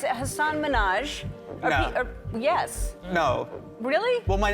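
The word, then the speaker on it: Hasan Minhaj: There was the interview with Hassan Minhage where she mispronounced his name, then insisted that she'd got it right. And it's Hassan Minaj.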